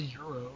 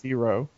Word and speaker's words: gyro: gyro it's not a Euro it's AO it's AO gyo it's spelled with a G it's hey we're [